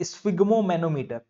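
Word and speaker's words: sphygmomanometer: है इस फागो में सॉरी फिर से प्रोनाउंस करूंगा मैं स् फागम मैनोमीटर ठीक ये मैनोमीटर लास्ट में बोलना और यह होता है स् फिगो स् फिगो मैनोमीटर स् फिगो मैनोमीटर स्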